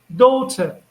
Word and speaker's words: daughter: So this GH here in this word, do you think that this GH it's silent, it's absent?